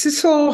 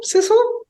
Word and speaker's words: Sidsel: do please yes my name is Cecil it rhymes with whistle Sizzle and um I'm basically